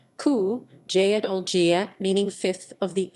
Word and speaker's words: Cúige Uladh: from the irish language qiuije lad pronounced ku jaedol jia meaning fifth of